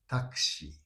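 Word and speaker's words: タクシー: But uh in Tokyo, it's pronounced this U is unpronounced. Yeah, that's why so the way we call it in Tokyo is taki taki taki.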